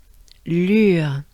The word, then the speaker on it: Lure: Let's start by the sound U, U, U. Funny French sound, I'm sure. So to pronounce the sound U, you want to make a droopy face.